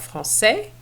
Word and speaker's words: français: So we have, for example, un acteur français, une actrice française. So we'll just add the E here, but of course the pronunciation is going to be affected. Un acteur français, the S is silent, but we're going to say française.